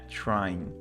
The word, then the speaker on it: trying: ó tá vendo agora e NG aqui tá no normal né é o and Try é tentar trying tentando pronunciando só até o n né trying are you trying to